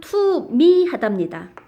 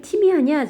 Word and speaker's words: 투미하다: 저는 너 왜 이렇게 티미하냐 제가 이렇게 좀 발음을 하는 편이에요. 그런데 티미하다, 트미하다 이런 거 잘못된 발음입니다.